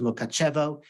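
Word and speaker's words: Mukachevo: a town called monkatch that Hungarian way of pronouncing it it's also known as mokachevo and Ukrainian magazine it was the commercial capital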